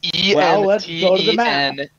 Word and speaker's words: Entenmann: Entemans. No, that's not even close. It's Entenmann.